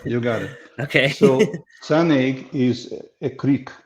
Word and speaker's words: Sanaig: and the next one is i'm going to butcher the name yep you got it okay so sun egg is a creek right next to the distillery